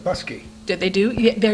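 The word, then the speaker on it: Bousquet: B-O-U-S-Q-U-E-T, Oh, Busquet. But that's another name. That's another name, Busquet. but they pronounce it Busky.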